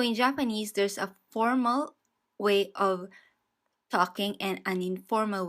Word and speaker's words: は: Our first grammar point is N1 wa N2 des.